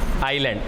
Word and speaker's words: island: ठीक है, इंग्लिश में क्या बोलते हैं, ISLAND ना, आइलैंड, एस साइलेंट हो जाता है यहाँ पे।